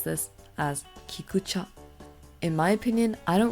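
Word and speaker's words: 菊茶: And in Japanese, we pronounce this as kikucha.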